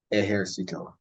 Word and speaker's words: ejército: Now, the jota is pronounced pretty much like the English H, just like the G, the English H.